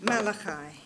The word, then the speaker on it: Malachi: Malachi. Malachi. I'll pronounce it Malachi then for today.